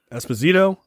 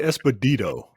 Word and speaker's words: Esposito: washington how do you spell how do you pronounce that that last name esposito esposito washington all right washington no no no